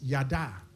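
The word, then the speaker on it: yadah: The giving thanks, the word that is translated in our text as giving thanks, that word in Hebrew is yada. It's spelled, if you're writing those, Y-A-D-A-H.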